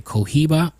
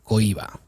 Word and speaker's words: Cohiba: I know in English they say Cohiba, but if it's in Spanish, it's pronounced Cohiba. H is silent.